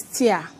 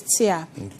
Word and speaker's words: TEA: This is tia. T e a. Okay. Um, you can pronounce like T, but when you go to the chemical shop and you say T, they will know what it means.